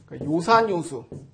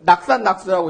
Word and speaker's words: 요산요수: 그때도 이거를 낙산낙수라고 읽지 않고 산을 즐기고 물을 즐기는단 말인가? 그래도 뭐 말은 될 것 같지만은 그렇게 읽지 않고 좋아하다는 의미일 때는 도금이 요로 바뀝니다.